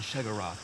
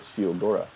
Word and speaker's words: Sheogorath: operation to me and shagarath will reward you well yes this is how you get the quest interesting that's how you pronounce that name I always thought it was shiodora shagora interesting I've been to the